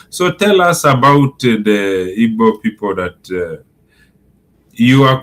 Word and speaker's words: Igbo: If you call them ebo you are right. It's either ebo or ebo. But um the right pronunciation should be ebo because they have been addressed to us.